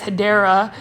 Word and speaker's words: Hedera: a Hedera helix, guys, Hedera. I'm now pronouncing it correctly. I was calling it Hedra, although I kind of want to keep calling it Hedra.